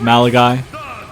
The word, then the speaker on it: Malachi: Day making their way to the ring it's pronounced malagi actually I I said Maly by mistake Malachi black not meleno black okay Greg Hamilton learn